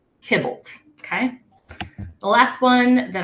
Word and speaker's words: Tybalt: them on to use but his name is pronounced Tibbles it's not Tybalt it's not tibalt it's Tibbles okay the last one that I've included here